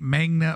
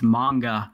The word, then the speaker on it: manga: popular like for like magna making it Magne Magne Magne it yeah it's mine it's manga yeah and i had